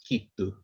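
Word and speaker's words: giitu: You can see that it's spelt G-I-I-T-U, but that G pronounces as K. So we said it's a very similar sound, so G, K, so it's kitu.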